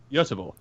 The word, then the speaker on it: Göteborg: To any people who don't understand Swedish, Matt managed Gothenburg. But how do you pronounce it, sir? Göteborg.